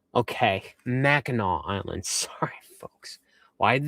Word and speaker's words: Mackinac: It's pronounced Mackinac. Okay, Mackinac Island.